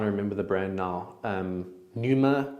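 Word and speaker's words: Pneuma: Numa clothing, which is really nice. Oh, with the silent P at the front, right?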